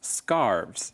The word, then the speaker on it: scarves: more than one scarf its scarves you add the V sound at the end I guess Matt is